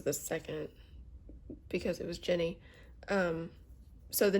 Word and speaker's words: Ginny: And they were like, "That is pronounced Ginny."